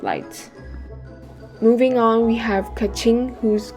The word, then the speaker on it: Keqing: Moving on, we have Keqing, whose correct pronunciation is actually, Kèqíng.